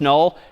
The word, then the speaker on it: NUL: N UL pronounced null is just the null terminator back/zero.